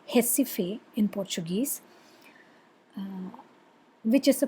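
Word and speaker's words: Recife: jessife r e c i f e it's pronounced hessife in portuguese which is a place in pernambuco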